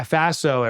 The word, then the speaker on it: Faso: more about that yeah Faso it rhymes with lasso and it stands for